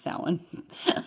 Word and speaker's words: Samhain: The ancient Celts used to call the time of the longest night of the year Samhain, pronounced Samhain.